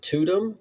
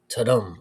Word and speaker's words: Tudum: The only thing that I can think left to say about that is you you pronounced it tutum. I think it's maybe tadum. Like it's like the sound, you know.